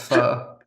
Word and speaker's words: pho: It's pronounced pho, though. You mispronounced.